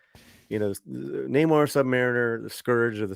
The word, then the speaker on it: Namor: In a recent clip from the film series, Huerta pronouncing Namor's name Namor rather than the typical pronunciation of Namor.